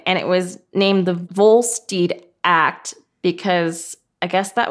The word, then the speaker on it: Volstead: Yeah, pronounced Volstead, but yeah, he was Volstead.